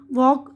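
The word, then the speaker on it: walk: ये देखिए, इसमें देखिए यहाँ पर बता रहे हैं एल साइलेंट है। हथेली, पाम, काम, सुकून, हाफ, निस्फ यानी आधा, वॉक चलना, फॉक गुरोह इंसानी, टॉक गुफ्तगू, शुड चाहिए, वुड जाएगा, कुड सकना।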